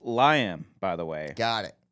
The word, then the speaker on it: Liam: It's pronounced Liam, by the way.